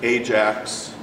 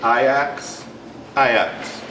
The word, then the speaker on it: Ajax: I would say and you all would pronounce it Ajax um soccer team I'm told that he pronounces it ax ax uh soccer team and